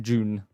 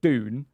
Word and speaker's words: Dune: It's a D, not a J.